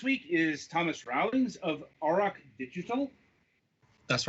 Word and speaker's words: Auroch: Joining us this week is Thomas Rowlings of Auroch Digital. That's right, yeah. Okay, good. Exactly sure how to pronounce Auroch there, but good to know that we got it right.